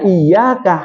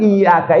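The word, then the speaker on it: إِيَّاكَ: lebih-lebih pahamlah Hanya mengingatkan pelafalan iaka itu harus mempergunakan tasdid iyaka tidak boleh tidak ada tasdid iyaka kenapa Karena kalau iyaka itu mentari pagi kalau tanpa tasdid iyaka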